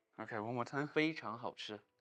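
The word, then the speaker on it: 非常好吃: 非常好吃. Okay, one more time. 非常好吃.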